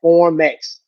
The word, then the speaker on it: Formex: It's spelled just how it sounds. Formex.